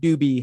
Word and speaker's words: Dube: i apologize rate uh ironic growing up in the state of colorado with the last name doobie yeah it was good i've heard it all scooby dooby dooby you know doobie brothers you name it